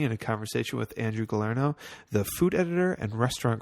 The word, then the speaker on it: Galarneau: And it's Galarneau.